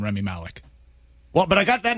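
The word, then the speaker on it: Rami Malek: I asked Mike right before we went on air, is it Remy Malik? And he said, no, it's Remy Malek.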